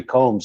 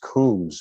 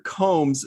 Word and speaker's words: Combs: what's the word yeah well avery is uh incorrect on that but not really there are there is another version of my name with two o's in it and brits